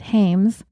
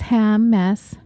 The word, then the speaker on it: Hammes: Last time I said Hames, but it's ham mess. Ham as in smoked ham. Mess as in my life's a mess.